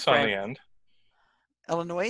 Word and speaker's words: Illinois: I mean, Illinois, I would say, should have a Y on the end, just going by how you say it. Well, it's spelled, the last letter is an S, right? So it should be Illinois.